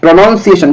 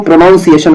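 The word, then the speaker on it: pronunciation: बताना है तो देखिए प्रोनंसिएशन देखना ये वाला सही है ठीक है ना प्रोनंसिएशन स देखिए होता क्या है कि कई लोग इसको प्रोनाउंस एशन पढ़ते हैं प्रोनाउन सिएन इसीलिए इसका स्पेलिंग भी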